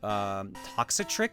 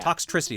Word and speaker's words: Toxtricity: Like, I like a bunch of the Pokemon in that one, like Toxatrick, I think is how you say its name, the guitar Pokemon. Toxtricity, but yeah. Toxtricity, that's the one.